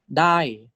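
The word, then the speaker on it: ได้: So it's second tone for mid. Dai.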